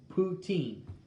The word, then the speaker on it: poutine: you pronounce it is poo as in p o o and teen t-e-e-n poutine emphasis on the last syllable syllable french canadians might